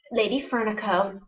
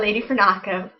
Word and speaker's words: Lady Fernaco: She is Lady Fernico, not Lady Fernaco. Lady Fernico. As often mispronounced on other podcasts, she is Lady Fernico on Ravelry and on Plurk.